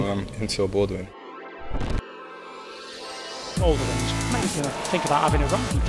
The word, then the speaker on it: Boldewijn: The pronunciation? Oh, Enzio Boldewijn.